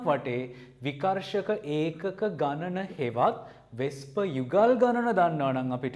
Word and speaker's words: VSEPR: ඕක අපි abbreviate කරන්නේ VSEPR කියලා. හැබැයි pronounce කරද්දී වෙස්ප කියලා කියනවා.